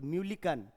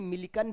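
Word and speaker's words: Millikan: ये कहीं कहीं मिलिकन भी लिखा रहेगा, तो परेशान, अलग अलग किताब में अलग अलग उच्चारण है, तो कहीं म्यूलिकन लिखा है, कहीं मिलिकन लिखा है, लोड नहीं लेना है, बस ऑप्शन में देख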